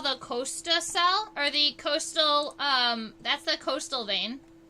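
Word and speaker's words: costal: going to be your Coastal Coastal vein that's spelled c-o-s-t-a-l like a coast in the ocean without the egg all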